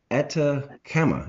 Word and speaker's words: Atacama: mining regions of, and I hope I pronounced this correctly, Atacama. Is that correct, sir? That's exactly right.